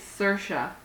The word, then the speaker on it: Saoirse: And you're like, how do you pronounce that? It's Saoirse.